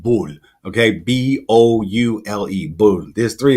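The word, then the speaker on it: boule: that oh in Francais they call it is pronounced bull okay b-o-u-l-e boom there's three of them these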